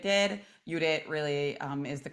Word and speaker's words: Judit: a few more answers before I reveal what Judith did udit really um is the correct pronouncing pronunciation of her name um sujana um